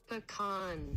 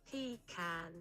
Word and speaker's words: pecan: That's the American pronunciation. Here's the British. Pecan. Pecan. I will say, the way you said pronunciation is me... Pecan. Now I'm questioning everything. Pecan. Pecan. So, there's British... Listen to this. You hear it? So, depending on where you live...